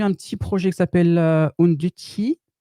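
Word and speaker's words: Undici: Côté Node, Node.js, je vous ai mis un petit projet qui s'appelle Unduti. Ça se prononce à l'italienne.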